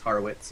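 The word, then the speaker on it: Horowitz: harowitz yeah gottz haritz it's harwitz it's Jewish that's such a weird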